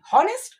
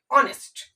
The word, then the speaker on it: honest: जैसे हम लोगों ने एक वर्ड लिखा HONEST, आप इसको क्या पढ़ोगे, हॉनेस्ट नहीं, इसको हम लोग पढ़ते हैं ऑनेस्ट।